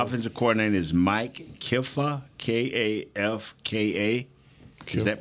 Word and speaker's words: Kafka: So the offensive coordinator is Mike Kifka, K-A-F-K-A. Is that pronounced right?